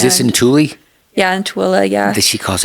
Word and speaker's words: Tooele: It's spelled Thule, but she calls it Tooele, although there's no A at the end.